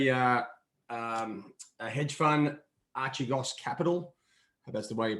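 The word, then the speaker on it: Archegos: there's talk about uh um a hedge fund archigos capital that's the way you pronounce it so they've they've defaulted on some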